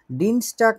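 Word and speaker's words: Dienstag: ডিনস্টাক মানে হচ্ছে মঙ্গলবার।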